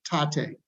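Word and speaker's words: Tatte: It's called, I always pronounce this wrong, Tate, T-A-T-T-E.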